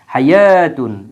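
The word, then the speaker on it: حَيَوٰة: টান দিয়ে দেখানো হচ্ছে যে এটা আলিফ মাকসুরা হাইয়াতুন এজন্য আমরা ওয়াও এর কিন্তু উচ্চারণ করি না কারণ ওয়া এর উপরে কোন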